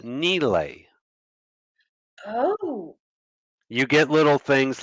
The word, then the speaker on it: Nile: word Sahara means desert the name of the river we pronounce it the Nile that is not how it's pronounced it's pronounced Neely oh you get little